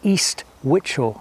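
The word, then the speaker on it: East Wichel: East, next bit word, are pronounced the same as the word witch. So yes, it is Witchelstow and East Witchel.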